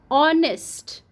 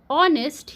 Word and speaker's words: honest: vowel bird also you honest honest here H is silent so here o is